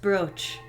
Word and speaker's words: brooch: The brooch is pronounced brooch.